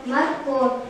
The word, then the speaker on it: морковь: Морковь. Ударение падает на слог О. Безударное О.